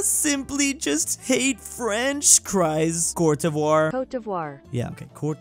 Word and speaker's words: Côte d'Ivoire: The English-speaking world does not use Cote d'Ivoire. Côte d'Ivoire. Côte d'Ivoire. Yet for some reason, most people do not use the Côte d'Ivoire pronunciation for this country in Africa.